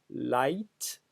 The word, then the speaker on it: light: outre son expansion sémantique c'est sa prononciation en effet un tellement en français devraient se dire l'ict comme dans cliquetis cliquetis au nom du principe d'assimilation de dévoilement qui interdit de dire gueule juste avant tu mais c'est une autre histoire en réalité le français a emprunté le mot et sa prononciation telle qu'elle est celle ci n'a jamais varié tout le monde dit light sans réfléchir et sans sourciller comme si la graphie